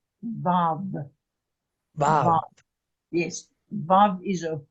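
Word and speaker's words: ו: Vav. Vav.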